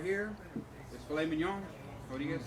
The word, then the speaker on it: filet mignon: And then this right here is filet mignon.